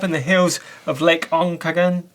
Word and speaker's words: Okanagan: And in first place this week, we've got Phil high up in the hills of Lake Onkagan. How do you say that, Steve? Okanagan.